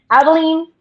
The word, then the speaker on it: Abilene: Abilene, Abilene.